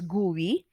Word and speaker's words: GUI: use a graphical user interface or gui or pronounced as gui okay so a graphical user interface or commonly